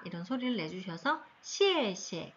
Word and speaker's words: 谢谢: 이런 소리를 내주셔서 谢谢, 네, 이렇게 되면 고맙습니다.